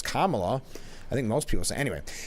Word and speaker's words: Kamala: on how to say it I mean it's Kamala I think most people anyway poignant moment from